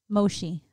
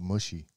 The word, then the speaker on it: mochi: Mochi. Oh, mushy.